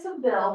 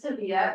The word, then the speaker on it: Sevilla: And then we went, it looks like Seville, but in Spain they pronounce it Sevilla, which is really hot.